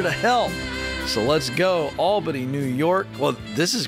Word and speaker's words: Alba: Is it Alba or Alba? It's Alba.